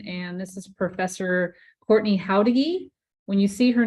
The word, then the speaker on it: Jauregui: Dr Rebecca Burton and this is Professor Courtney houdegi when you see her name on the screen yes it's how to get pronounce it with the ha instead of a j